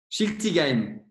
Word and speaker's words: Schiltigheim: Est-ce que tu peux me le prononcer ? Schiltigheim.